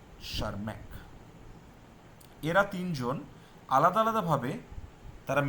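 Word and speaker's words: Tschermak: টিটা উচ্চারণ করার দরকার হয় না, শারম্যাক।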